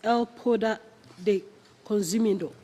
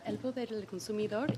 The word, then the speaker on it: El Poder del Consumidor: She is the coordinator of nutritional health research with El Poder de Consumido. I didn't pronounce it well, but you can pronounce it for us. Okay. Yes, El Poder del Consumidor is based in Mexico.